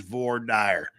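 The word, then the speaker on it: voir dire: or V dire now remember the proper pronunciation is V dire just ask any just ask any lawyer from out west wow so they're gonna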